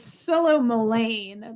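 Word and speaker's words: psilomelane: still okay all right so I was wrong it's solo milane but it starts with a P -s-i-l-o-m-e-l-a-n-e syllables you know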